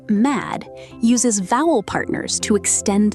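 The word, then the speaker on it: madd: To pronounce the word mad correctly, use a sharp ah sound, like in the word cat, and make sure to end with a strong, clean D.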